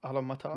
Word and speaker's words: Automata: Automata.